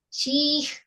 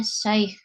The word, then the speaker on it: syekh: bingung ini bagaimana caranya, apakah syih ya, apakah syuih ya, tidak perlu bingung ya, tetap dia adalah bacanya syekh.